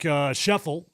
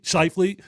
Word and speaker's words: Scheifele: Well, not only was it not a drain, but in the third there, when Mark Scheffel, is that how you say it? Yeah. I think it's Scheifele. Scheifele.